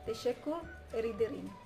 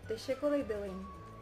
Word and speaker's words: teşekkür ederim: And now in Turkish, it is teşekkür ederim. It is two words but pronounced as one, so teşekkür ederim.